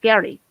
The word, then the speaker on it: Gally: Well, because then there are no L's in the Japanese language, so Gally would be pronounced Gary.